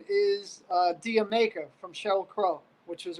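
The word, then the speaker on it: D'yer Mak'er: Dude, I thought it was Dire Maker. When is it? How you pronounce it? I believe it's pronounced Dia Maker, like did No. you make her?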